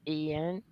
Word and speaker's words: Ian: It's spelled with an I, but it's pronounced Ian.